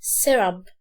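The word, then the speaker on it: syrup: اسمه سيرب، سيرب، سيرب، سيرب. مش هتكسر هنا قوي، هتقول سيرب، سيرب، اللي هو كسرة مش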